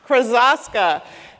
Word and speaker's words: Krosoczka: We have Jarrett Krosoczka. Did I say it right? No, it's okay. So close. Krosoczka. Krosoczka.